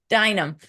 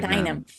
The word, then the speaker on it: Duignam: Dynam. Okay. Thank you. Duignam. Dynam. And Duignam. Dynam, right?